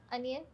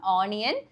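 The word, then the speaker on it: onion: അടുത്തത് നമ്മുടെ സ്വന്തം ഉള്ളി അനിയൻ അല്ല ഉള്ളി അല്ലല്ല ഇതിന് സവാള എന്നല്ലേ പറയ ഉള്ളി എന്ന് പറയും ഉള്ളി പറയാല്ലേ വലിയുള്ളി വലിയുള്ളി ഇതെങ്ങനെയാ പറയാ ഇസ് ആക്ലി അനിയൻ നമ്മുടെ അനിയൻ എന്നൊക്കെ പറയില്ലേ അതേപോലെ അനിയൻ നോട്ട് ഓണിയൻ ഇസ് അനിയൻ ഓണിയൻ എപ്പോഴും നമ്മൾ പറയുന്ന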